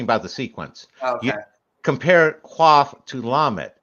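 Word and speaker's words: קוף: Also, so don't think of it with a Q, even though that's like Q comes from cough. Just say it like cough, like Cough? yeah. Say Okay. it like cough, but German.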